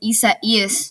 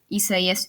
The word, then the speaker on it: Isaias: I'm bringing you another tropical weather outlook and discussion, I guess you could say, on tropical storm Isaias. That's how you pronounce it. I'm pretty sure, Isaias.